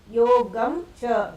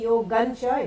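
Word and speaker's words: योगं च: Yogam cha instead of that if you say yogancha it's more right because when cha and all come cha kha or dha dha it is na sound when you see the dot on the top.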